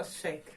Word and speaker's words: chic: Но и многие люди все равно произносят как check, но shake, okay?